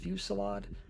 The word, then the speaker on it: Fusillade: to this bottom skill, which I think it's pronounced Fusillade. I know it doesn't look like it, but it's one of those words.